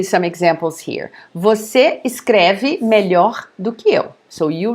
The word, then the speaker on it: melhor: Melhor, melhor. Ruim, pior. Grande, maior. Pequeno, menor. So notice the pronunciation because it's, for you guys, it's very close. So here, the comparative of bom is melhor. It's open, okay?